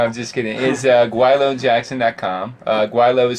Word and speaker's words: Gweilo: Guailo is spelled for those who are not living in Hong Kong or speak Cantonese.